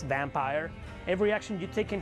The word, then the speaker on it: Vampyr: telling you in vampire I don't know if that how it's pronounced I think it's vamp here well it's vampire every action you take